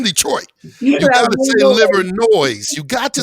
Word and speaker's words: Livernois: uh right off the liver noise that's how you know you're from detroit because because because you you pronounce the s everybody knows livernois but